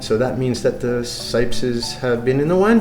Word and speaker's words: Cipes: And when they came over to the United States, nobody could pronounce T-S, so they said Cipes, C-I-P-E-S.